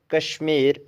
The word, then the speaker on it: KSHMR: Then next one is KSHMR, Kashmir Niels Hollowell Dar, born October 6, 1988, better known by his stage name KSHMR, pronounced Kashmir, stylized as Kashmir, is an American musician, record producer, and DJ of Indian descent.